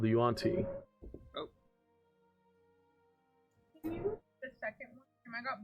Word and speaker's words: Yuan-ti: and they're gods of Yanti? Yuan-Ti.